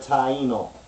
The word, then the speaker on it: Taino: phonetic form meaning like the word Taino it got three syllables you got thi e and no or you can break